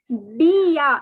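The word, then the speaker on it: bien: and the next is b it is not b n it is not any other word it is the n is again silent see the the silent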